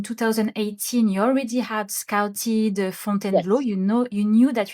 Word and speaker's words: Fontainebleau: So we say font and blow. Font. Yeah. Exactly. So you scouted font and blow five countries.